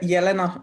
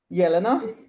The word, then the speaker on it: Yelena: pronounce your name so my name is uh yelena yelena yelena yeah like you're yelling at somebody is going to handle